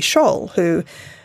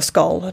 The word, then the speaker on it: Scholl: And she said, you know, one day I walked past this monument to Sophie Scholl, or Skoll, depending on how you say it, who was this young woman, Gemma woman, who stood up against the Nazis and was actually executed.